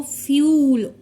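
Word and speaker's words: fuel: यहां पे तो भी इस केस में भी हम इसको फ्यूल यू यू he read करेंगे यू साउंड ही देना है यू को फ्यूल जैसा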